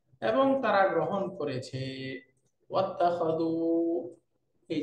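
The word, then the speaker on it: وَاتَّخَذُوا: তারা সবাই গ্রহণ করেছে শুরুর হামজাটা যেহেতু হামজাতুল ওয়াসলি এই জন্য দেখেন পূর্বে ওয়াও আসার কারণে হামজাটা লিখায় আছে উচ্চারণে নাই এবং তারা গ্রহণ করেছে ওয়াত্তাখাযু এই যে মিন দুনিল্লাহি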